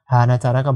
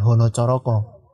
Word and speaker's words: hanacaraka: itu diawali huruf k semua hanacaraka bukan Honocoroko sebenarnya kalau di Indonesia